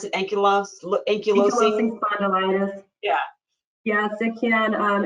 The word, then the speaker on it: ankylosing: you didn't go go into how do you pronounce it ankylos yeah yes it can um ankylosing spondylitis and any of the the similar groups